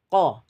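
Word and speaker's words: قَ: eh harakat fathah sehingga kita membacanya satu harakat qo qo Jangan dibaca panjang ya Eh jangan sampai E menjadi tamtit atau jangan sampai menjadi istilas jangan terlalu pendek jangan juga terlalu dipanjangkan cukup satu harakat atau satu kotukan baik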